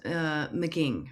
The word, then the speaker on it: McGing: And your last name is McGing, right? Is that how McGing. you Yep.